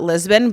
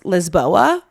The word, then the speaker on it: Lisboa: of their country like Lisbon we call it Lisbon but it's Lisboa so I'm like what